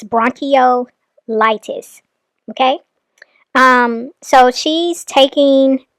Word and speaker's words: bronchiolitis: it's bronchitis for babies Olivia the way you are supposed to pronounce that is bronchiolitis that's what you're trying to say that is bronchitis found in babies it's bronchol litis okay um so she's